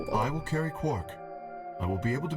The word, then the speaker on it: Quark: What are we going to do about Quark? I'll carry him. Every time. It's still so weird to me that they pronounce his name like Quark instead of Quark.